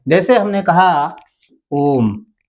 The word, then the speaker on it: ओम: जैसे हमने कहा ओम, ये शब्द लिखा हुआ है, इसका उच्चारण कीजिए तो ओ को हम लंबा खींचकर तब इसका उच्चारण करते हैं, ओम, है ना?